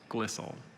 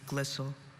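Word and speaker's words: glissile: sliding over one another at low stress levels glistel y c i l e glistel glycel is spelled g-l-i-s-s-i-l-e brody you have a lot of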